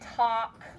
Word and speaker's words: talk: after the a and talk nope you can't use ck unless the vowel is saying it's short sound there's a silent letter there's a silent l so we have we